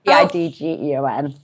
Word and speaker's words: Pidgeon: is spelled Niyc, and Pidgeon is the spelling of like the bird. Pigeon. It's got a D in it as well, though, for pigeon. So it's Pidgeon. Dgeon.